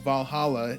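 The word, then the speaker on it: VA-11 Hall-A: It's called Valhalla. It's spelled a little weird.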